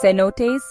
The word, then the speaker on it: cenotes: Cenotes, pronounced cenotes, are natural sinkholes filled with crystal clearar fresh water, and the Yucatan Peninsula has thousands of them.